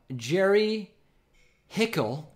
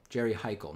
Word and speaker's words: Heikal: super chats coming in Jerry Hickel says you got my last name wrong it's Jerry hike Oh Jerry Heikal Jerry Heikal not Jerry Hickel I stand corrected and